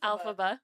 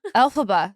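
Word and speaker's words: Elphaba: the witch yeah what's Alaba alphaba sorry Alaba alphaba you put the wrong emphasis on the wrong you guys I'm also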